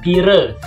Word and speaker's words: pira: Yang pertama adalah kata pire. Pire itu di sini artinya adalah berapa? Sebenarnya tulisannya pira ya, tapi dibaca pire. Secara keseluruhan itu memang huruf A yang di akhir itu menjadi huruf E cara bacanya.